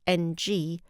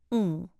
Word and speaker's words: Ng: Some people with the short Cantonese surname spelled NG choose the pronunciation ng, and some use NG, which is easier for English speakers to say.